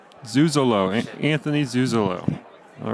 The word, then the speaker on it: Zuzolo: Zuzolo.